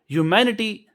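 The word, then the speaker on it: humanity: ह्यूमैनिटी आगे भी पीछे लफज़ हो चुका है इसका। तो ह्यूमैनिटी कहते हैं। इसे आपने यू के साथ पढ़ना है। एच इसमें साइलेंट होता है।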